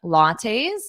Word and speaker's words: latte: saying they were sipping lattes a latte is a drink that has espresso and milk a latte notice that pronunciation latte latte and then in the plural